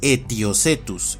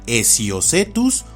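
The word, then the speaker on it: Aetiocetus: Pero en la pronunciación de nombres científicos esto no va, y por eso este nombre es Etiocetus y no Esiocetus o Etsiocetus.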